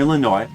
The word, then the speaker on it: Illinois: Yeah, I'm from Illinois. Sometimes letters don't get pronounced.